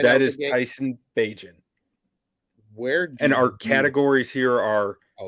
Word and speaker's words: Bagent: Bajan? That is Tyson Bagent.